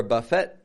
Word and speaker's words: buffet: t on the ending I'm not saying buffet or buffet or anything like that but Buffet now I can't speak for all French words if all French words ending in e t have an A sound I don't know but Buffet sure does so we got to